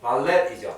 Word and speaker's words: ballet: 이게 프렌치에서 온 단어라서 T자 발음 안 하죠, 보통은. 우리가 잘 알고 있는 부패가요. 스펠링 어떻게 돼요? 이렇게 되죠. 근데 이게 프렌치라서 T 발음 안, 프렌치는 T 발음 안 하죠. 숭어 이렇게 하니까. 그래서 buffet, ballet. 발렛 파킹 할 때도 이 T자로 끝나는데도 발레이라고 발음하세요. 발렛 안 하고.